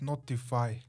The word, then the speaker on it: ntfy: platform called notify which by the way is pronounced notify and it caught my attention IM immediately deploying